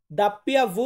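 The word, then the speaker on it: doppia vu: তারপরে ওটাও ভু, তবে এখানে ডাব্লিউ, আমরা এটাকে বলে থাকি ডাবল ইউ, মানে ডাব্লিউ বলে থাকি, এটাকে আমরা বলবো দাপ্পিয়া ভু, দাপ্পিয়া ভু বা দাপ্পিয়া ভি, দুটা সাউন্ড আসে ডাব্লিউতে।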